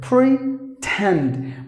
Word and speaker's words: pretend: stressed syllable for example there are two syllables in this word pre tend but the stress is given here pretend so just because you're giving the stress on the second syllable where the letter T